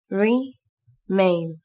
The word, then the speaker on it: remain: Các bạn lưu ý đọc âm E nối với âm I. Âm E dài hơn âm I một chút là được nhé.